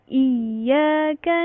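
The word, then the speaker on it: إياك: Tapi ini Y-nya itu ada dua, gitu. Kalau dalam latin pun huruf Y-nya itu ada dua. Berarti dibacanya seperti ini. Dihentakkan iya iyyaka na'budu wa iyaka nasta'in.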